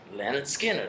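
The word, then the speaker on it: Lynyrd Skynyrd: little Lon skinned uh track one off of pronounced Leonard skinnard which is the first album of Leonard Skinner's career called pronounced and skin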